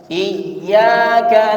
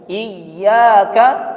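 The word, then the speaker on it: إِيَّاكَ: Contoh lainnya, kita tadi sudah membaca Iyyaka na'budu wa iyyaka nasta'in. Ya-nya ditasydidkan atau ditahan dengan Iyyaka na'budu wa iyyaka nasta'in.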